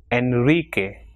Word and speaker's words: Enrique: Now, the letter r is pronounced in a strong way at the beginning of a word, and when it comes after l, n, and sub. For example, ropa, rio, Roma, Enrique, alrededor, is subrayar.